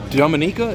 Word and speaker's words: Dominica: And does the family go back to, it's Dominica? Dominica. How it's pronounced?